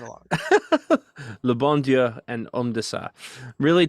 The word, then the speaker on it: Le Bon Dieu: Both have three syllables. At least I think Le Bon Dieu has three syllables.